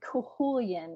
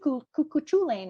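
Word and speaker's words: Cú Chulainn: you know and um kulan that's the pronouncing of his name because I always wanted to call it CH CU chain or something like that but Welsh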